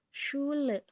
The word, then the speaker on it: Schule: Pasti itu akan ada dalam suatu kata, contohnya dalam kata Schule. Jadi SCH ini dibaca dengan sh. Bisa nggak? Sh. Kayak ini loh, kalau misalkan lagi berisik, shh, gitu. Tapi ini, shh. Awas ya teman-teman, jangan sampai muncrat nanti itu banjir ya.